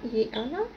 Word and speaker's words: Yianna: tal está es de esta marca hiana pero así se pronuncia y Ana es de zipper tiene